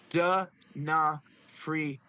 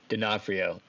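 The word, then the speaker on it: D'Onofrio: Oh, and uh online it says V it online to pronounce his name it says Vincent Dafrio. Denafhrio.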